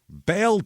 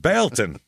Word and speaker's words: Baileyton: Bon Tennessee now mhm I say like that with a little bit of you know a little bit of skepticism in my voice because it is spelled Bon b a i l e y t o n and it was originally Bal town and then they dropped the thing I guess cuz